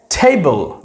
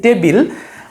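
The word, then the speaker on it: table: রাখবো এটা অবশ্যই বিটাকে সাইলেন্ট রাখতে হবে এবং উচ্চারণ হবে নাম্বার ফাইভ টেবিল রাইট এটা আমরা সচরাচর বলে থাকি টেবিল বাট টেবল কারণ এখানে আমরা যদি আইপিএ দেখি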